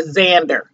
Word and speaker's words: Xander: eggs and is okay Xander Simon the X is silent and we throw a Z in there but anywho um but